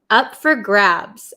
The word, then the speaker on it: up for grabs: for grabs okay and pay attention to um how we pronounce it so we usually say up f f usually in American English this for turns to f up for up for grabs up for grabs okay